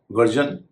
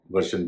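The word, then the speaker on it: version: वर्जन, वर्शन भी कहते हैं। शन और जन आप जो चाहें उच्चारण कर सकते हैं, अगर शब्द के बीच में आर है और उसके बाद SION है।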